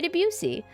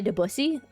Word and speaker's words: Debussy: Okay, Edward Cullen by Debussy. Kaede, it's actually pronounced by Debussy.